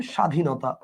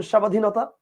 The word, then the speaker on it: স্বাধীনতা: কি বলেন উচ্চারণটা ক্ষীণ যেমন আপনি দেখেন একটু খেয়াল করে দেখেন স্বাধীনতা আপনি খেয়াল করেন ব ফলা আছে কিন্তু বফলার উচ্চারণটা আপনি করতেছেন না আচ্ছা আপনি কি বলেন স্বাধীনতা বলেন আপনি বলেন স্বাধীনতা আবার দেখেন শশুর এইযে